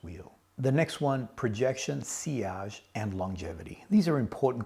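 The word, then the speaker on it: sillage: Then there is seage and it's actually pronounced seage. When I first started the channel, I was calling it silage. No, that is a mistake. I wouldn't recommend that you call it silage.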